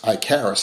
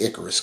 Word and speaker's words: Icarus: to do that uh Icarus icaris however you want to pronounce it it's Icarus cuz that's how they called it in the movie he could have used